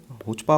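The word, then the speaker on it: chutzpah: तो वर्ड आप याद रखेंगे, हुचपा होता है इसका प्रोनाउंसिएशन।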